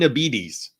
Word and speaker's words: Abetes: Also, then the Bates is the same pronunciation as diabetes. So Abetes.